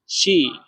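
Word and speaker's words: 湿: তারপরে দেখেন শি। শি, এখানে চাইনিজের 1 নাম্বার টোন ব্যবহার করা হয়েছে। তাহলে এটা ডাইরেক্ট উচ্চারণ করতে হবে একদম সোজাভাবে, শি, শি।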